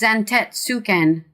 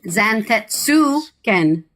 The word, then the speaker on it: Zantetsuken: It's Zantetsuken. Tet is not how you pronounce that in Japanese. There's no... Tet is not how you pronounce that in Japanese. My lord, I trust your journey was not... Zantetsuken.